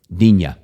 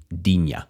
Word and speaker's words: Digne: Well, this one is French, so it's going to be pronounced a certain way. I give it context by saying, this is from the play Les Miserables. Here it is. Digne.